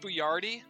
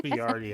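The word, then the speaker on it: Boyardee: Chef boy Rd it's it's pronounced buard yeah it's pronounced bardi actually he says it's a it's a it's an orian name ah yo this stuff's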